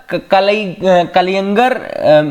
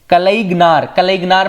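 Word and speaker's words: கலைஞர்: अगली जो न्यूज है वो है रिगार्डिंग द कलयंगर मेमोरियल, कलईगनार पढ़ो उसको, मैं तो अब तमिल प्रोनाउंसिएशन है जो भी तमिलनाडु का हो क्लियरली बता सकता है।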